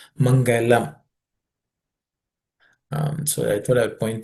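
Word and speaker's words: मङ्गलम्: See this word Mangalam in Sanskrit, the last letter L is a soft L. Mangalam. Generally, we have a tendency, especially people from the south, to say Mangalam, L.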